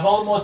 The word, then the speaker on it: Voldemort: I've been saying Voldemort's name wrong. Who? The T is supposed to be silent according to her. Voldemort. Yeah. So, even in the films it was incorrect.